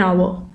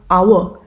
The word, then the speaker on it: hour: Okay, so why did you use an before hour? Because even though the word hour starts with H-O-U-R and H is a consonant, but when we pronounce it, it starts with a vowel sound. Okay, H is silent.